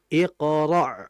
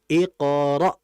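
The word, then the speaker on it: اقرأ: Nah, cuman juga kita jangan sampai terlalu dalam pengucapan hamzahnya. Yang dikhawatirkan akan menjadi ain iqra. Nah, jangan yang betul iqra ro seperti itu.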